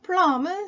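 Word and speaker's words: plumb: 되겠죠 쿡 찌르다 스텝 그리고 플럼은 수직이란 뜻 플럼은 발음이 안 되고요 플럼 수직 어 그레이트라이프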